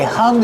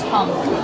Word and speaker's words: hung: How do we pronounce hung? Use a short uh sound like cuff and up. H- hung. And then the nasal sound for the ng. Hung. No hung. There's no G sound.